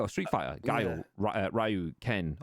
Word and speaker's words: Ryu: Ryu, Ken, or Ryu as it should be pronounced, but Ryu to me, Ken, Blanca, Yonda, Dalsim, and Bison, and so on.